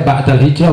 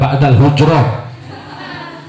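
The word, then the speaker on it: بعد الهجرة: Awas dibacanya ba'dal hijrah bukan ba'dal hujrah.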